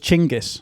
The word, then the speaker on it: Genghis Khan: So I think the top level autistic pronunciation is Genghis Khan. So we're going to Genghis Khan. Isn't it? I thought it was Chinggis.